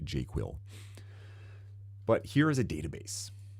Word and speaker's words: JQL: So the search language for Jira, I pronounce it jQuil, but here is a database.